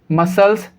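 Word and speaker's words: muscles: तो इन सभी वर्ड्स के अंदर इस कंडीशन में C साइलेंट होगा। Seizures, डिसिपाइल, मसल्स, scene.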